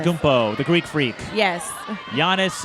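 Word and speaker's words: Giannis: the Greek freak yes Yanis is how you pronounce it thank you Yanis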